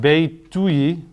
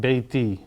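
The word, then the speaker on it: بيتي: This isn't going to be pronounced Beituyi. That would sound strange. So they just iron it out. Beiti, my house.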